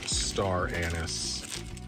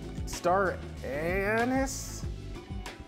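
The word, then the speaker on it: anise: little garlic powder and some star anus what did I say star Anis Anis that's star anus for those who are pronouncing it correctly and some sugar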